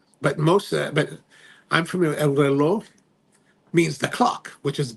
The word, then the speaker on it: El Reloj: Oh, pronounced El Reloj.